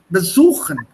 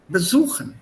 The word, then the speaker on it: besuchen: So the stress will be on the syllable after this. Besuchen. The stress is here. What? Suchen. Besuchen.